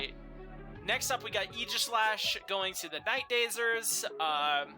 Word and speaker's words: Aegislash: Everybody mispronounces this bond's name, and it annoys me. But maybe I'm just the weird one. But whatever. It's Aegis. Yeah. Aegislash.